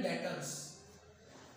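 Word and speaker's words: debtors: डेटर्स बी यहाँ पे है लेकिन साइलेंट रहता है, डेटर बोलते क्या बोलते हैं, डेटर्स।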